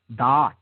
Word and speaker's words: Da'at: Da'at. Okay? D-A-A-T or D-A-A-T-H. Okay? Depending on how, different schools of Kabbalah spell it.